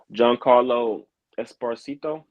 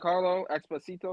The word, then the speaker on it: Giancarlo Esposito: Giancarlo Esposito. That's his name. That's how you say it? Giancarlo. Giancarlo Esposito.